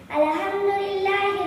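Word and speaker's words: الحمد لله: பிஸ்மில்லாஹிர் ரஹ்மானிர் ரஹீம் அல்ஹம்துலில்லாஹி ரப்பில் ஆலமீன் கொஞ்சம் நிப்பாட்டுங்க அல்ஹம்துலில்லாஹ் சொல்லக்கூடாது அல்ஹம்துலில்லாஹி ரப்பில் ஆலமீன் அந்த இடத்துல ஹ உச்சரிப்பு வருது.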